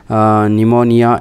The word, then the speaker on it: pneumonia: Question number 8, right answer is, my dear children, pneumonia is the right answer. P is silent, so right answer is option B is the right answer.